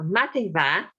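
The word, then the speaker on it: madainn mhath: So mating va. Mating means morning. Mating va, good morning. Mating va, good morning. So in Gaelic, they are masculine and feminine nouns, and matin is a feminine noun. So that's why it's mating va and not mating ma.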